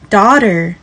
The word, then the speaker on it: daughter: 比较看看两者的美式发音 Daughter Doctor DaughterDoctor, daughter, doctor，记得后面的 R 一定要念哦。